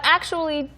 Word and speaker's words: actually: 그런데 But actually, just after my daughter was born, 그런데 actually라는 것은 이제 추 원리처럼 또는 to 원리처럼 발음되는 것은 아니고 이제 약간 슈처럼 더 많이 발음하죠.